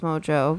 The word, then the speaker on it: Mongeau: name mangu munch yeah I never understood why it's pronounced mojo but maybe that's like a heritage thing I don't know anyways